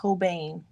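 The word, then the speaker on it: Holbein: whole bunch or apparently they're correctly pronounced hobane but I'm never gonna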